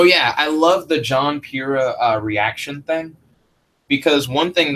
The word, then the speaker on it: Pyrrha: frame job was great Pyrrha Pyrrha I want to call her Pyrrha so bad um this is spelled right it's dawn right it's Pyrrha that looks like pirate um John when he